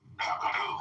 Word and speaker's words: gabagool: Do you know what the Sicilian pronunciation of capicola is? Not a John, no. Gabagool. Capricola. Gabagool.